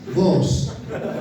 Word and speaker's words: Boaz: Bos. Nah, bos bacanya bos.